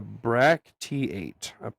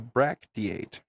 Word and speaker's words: bracteate: And actually, hold on, I have the enunciation for this word because I didn't know exactly how to pronounce it. So, a a bracteate, a bracteate, spelled Bracteate, a bracteate.